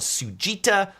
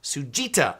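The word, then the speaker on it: Tsujita: My favorite place for sukemen is a place called Sujita, spelled with a T, T-S-U-J-I-T, T-S-U-J-I-T-A, Sujita artisan noodle in Los Angeles.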